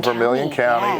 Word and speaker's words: Vermilion County: And right before that last page, that ending, was your return back to, is it pronounced Vermilion County? Vermilion County, yes.